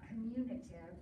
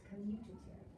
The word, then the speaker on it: commutative: commutative property of multiplication notice by the way there's no n in that word it's not communicative it's commutative no points out for